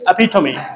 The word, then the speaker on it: epitome: It's not epitome, it's epitome.